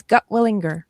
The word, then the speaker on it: Gutwillinger: Okay, tell the world your last name because I butchered it and I apologize. You did not. You did very well. It's gutwinger. Yes. Okay, that's exactly how you said it.